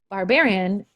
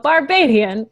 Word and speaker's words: Barbadian: Barbarian is a horrible way to say it, but Barbadian is the right way to say it.